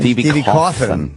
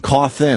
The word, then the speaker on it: Cawthon: Stevie Coffin. Coffin. I always want to put the L in there.